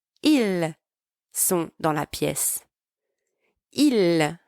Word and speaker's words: ils: Now, note that both sound the same as il and elle from the singular forms, but the difference is that there is a silent S at the end.